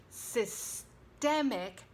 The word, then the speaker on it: systemic: I thought we'd begin with the word system, the system of slavery, or systemic racism. System, the noun, systemic, stress on the second syllable, as the adjective, as in systemic racism.